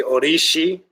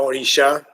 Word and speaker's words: Orishi: It's actually Orishi, not Orisha. That's more the English, or Orisha, some will say in English.